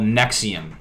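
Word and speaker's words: NXIVM: ] crazy so far-fetched there's this thing called nexium i really suggest that you look into this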